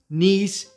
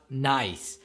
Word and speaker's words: Nice: the way it's pronounced nice not nice right it's about the French town not about oh how nice ok I will be